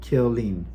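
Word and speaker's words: Killeen: 7th in 53 in kaleen Texas well if you see the way it's spelled it's k-i-l-l kill and then e-en kill lean so it's killing Texas he was suspected uh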